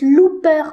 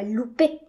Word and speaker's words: Looper: Et puis, mon nom de famille, ça se prononce Looper, pas Loupé.